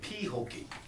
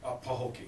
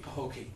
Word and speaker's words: Pahokee: it's called pooki but some people phonetically they say pwy but it's actually pronounced as pooki pooki yeah and and and